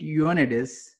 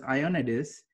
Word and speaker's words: Ioannidis: you say his name because you said you're on it is and I always thought it was I on it is and I think how